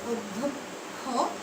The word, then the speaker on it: অধ্যক্ষ: দিয়ে অ দিয়ে আমরা কি দিয়ে লিখি অয়ে অধ্যক্ষ আমরা অ দিয়ে লিখি কিন্তু উচ্চারণ করার সময় আমরা কিন্তু বলি অধ্যক্ষ এখন